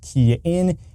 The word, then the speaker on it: Kian: Hey everybody, it's Kian with the RideShare Guy, pronounced Kian.